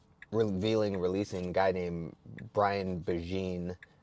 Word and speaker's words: Begin: then for the revealing releasing guy named Brian beine spelled like begin b b g i n he's